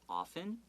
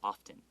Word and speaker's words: often: bring attention to is often o-f-t-n you don't have to pronounce that t okay some people might say often okay but a lot